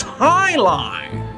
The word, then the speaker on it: jai alai: heck is jai alai it's pronounced Highline what the heck is